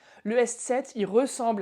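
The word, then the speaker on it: ß: l'alphabet français, c'est le S7. Le S7, il ressemble à un B majuscule, mais détrompez-vous, ce n'est pas un B. C'est simplement ça se prononce comme 2 S.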